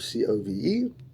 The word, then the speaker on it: Cobh: After leaving Liverpool, we were arriving at Cove, Cobh, but it's pronounced Cove, Cove.